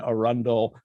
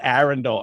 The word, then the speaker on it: Arundel: anne arundel community college got that pronunciation right yes you did yes you did well done i said arendelle earlier and she's like a rundown i'm like silly accent it could be it could go either way to be fair